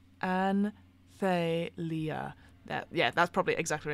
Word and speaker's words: Anthelia: Within stands a castle like a waterfall of white stone, the throne of Athena. That's not how you say it at all. Anthelia.